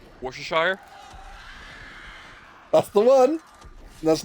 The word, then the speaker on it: Worcestershire: that one source that no American can actually pronounce Worcestershire that's the one that's not how you say it uh how do you pronounce it Worcestershire nope how do you pronounce it Worcestershire Worcestershire